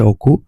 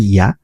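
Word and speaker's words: 屋: এটা অনের হচ্ছে উচ্চারণ হচ্ছে ওকু, আর কুনের উচ্চারণ হচ্ছে ইয়া, ঠিক আছে।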